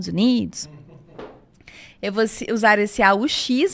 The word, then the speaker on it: aux: eu vou usar esse AUX, mas a pronúncia é O também. Os États-Unis, porque junta com a vocal seguinte.